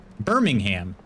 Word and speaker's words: Birmingham: Birmingham. Got it. Nailed it. Birmingham. We like to emphasize every syllable.